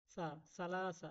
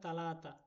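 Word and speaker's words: ثلاثة: দেখতেছেন এটাও সাটাও সাহেলে এখানে কেন তা উচ্চারণ হবে তা উচ্চারণ হবে না এগুলো সা উচ্চারণ হবে প্রিয় দর্শক ভিডিওটি কেমন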